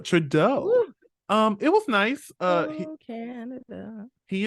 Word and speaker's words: Trudeau: minister of Canada Justin tribeau oh I said his last name wrong say it again that's a true bow uh Trudeau um it was nice